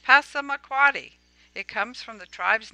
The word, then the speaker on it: Passamaquoddy: the second is Pizza Dana Point cosmic Claudius pronounced Passamaquoddy it comes from the tribes native name which